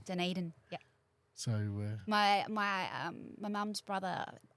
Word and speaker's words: Dunedin: You have to say it like a Kiwi. Dunedin.